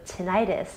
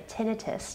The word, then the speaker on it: tinnitus: flat feet but also tinnitus or tinnitus depending on if you're pronouncing it with the British or American accent and balance is really